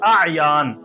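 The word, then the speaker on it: اعیان: और एक लफ्ज है आयान। आयान अलिफ और उसके बाद फिर आइन और या अलिफ और फिर नून, आयान।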